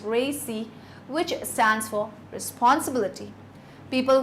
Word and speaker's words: RACI: A typical model used for this purpose is called RACI, pronounced RACI, which stands for responsibility.